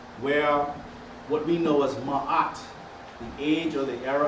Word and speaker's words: Ma'at: So we say Ma'at.